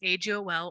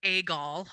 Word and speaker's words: AGOL: it's also known as agol or agall i've heard it pronounced both ways it kind of depends on who you're talking to at its core it's